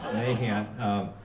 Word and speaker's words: Nahant: First of all, there's a place in Massachusetts, they call it Nahant out there. They don't say it right. We say it right. Nahant.